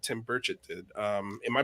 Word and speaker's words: Tim Burchett: I think we're going to get more senators to join us and have a conversation like Tim Burchett did. Am I pronouncing his name right?